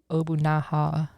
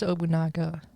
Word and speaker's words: Nobunaga: No, but I don't think it would be Obunaha. Oh, okay. Took a liking I think it's Obunaga.